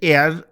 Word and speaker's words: heir: 8th article, হি is considered dash এয়ার, টু এয়ারের এইচটা silent হবে, টু a vast Fortune.